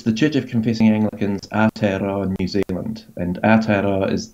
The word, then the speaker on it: Aotearoa: It's the Church of Confessing Anglicans Aotearoa, New Zealand.